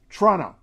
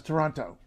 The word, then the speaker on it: Toronto: outside the city of Toronto and she sometimes says Toronto Toronto is with with the second you can say Toronto or Toronto is the official standard clear precise formal pronunciation that people mostly don't use be proud of